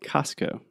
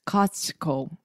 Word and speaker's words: Costco: c-o-s-t-c-o right yeah so technically it would be like cost like the price and then Co like company so I imagine the more correct way to say it would be Costco so hard Costco but